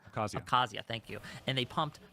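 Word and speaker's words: Abkhazia: They put and they took an interine conflict that was in South Oessa and um I can't pronounce oh abcasia Kazia.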